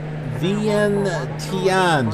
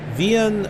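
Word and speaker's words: Vientiane: too so thean uh actually it might be we and tanani yeah I think the V is pronounced like a W uh it's the capital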